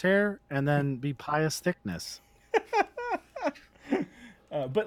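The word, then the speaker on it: Thicknesse: It's spelled all Britishy, but it's still Thickness.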